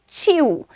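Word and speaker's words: chew: Pronunciation क्या है, चू नहीं, च्यू, च्यू, यू, यू पर ध्यान दो एंड बोलो च्यू, च्यू बोलना है आपको, ठीक है, च्यू, च्यूड, च्यूड।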